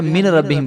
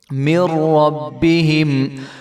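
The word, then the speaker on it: مِنْ رَبِّهِمْ: पढ़ रहे होते हैं, तो इसको मिन रब्बी नहीं पढ़ेंगे, बल्कि जो है मीम को हम रा के साथ मिला देंगे, और जो दरमियान में नून है ये साइलेंट हो जाएगा। मिर रब्बिहिम व अम्मल्लज़ीन व अम्मल्लज़ीन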